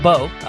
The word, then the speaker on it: Bo: I'm going to blame it on Bo. Rhymes with Joe, so it's almost as good.